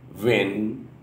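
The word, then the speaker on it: wynn: इसको डब्ल्यू वाई एन एन यानी पी यानी प्रोनाउंस किया जाता था. डब्ल्यू वाई एन एन ये प्रोनाउंस करते थे यानी विन विन वी वी इस तरह करके प्रोनाउंस करते थे.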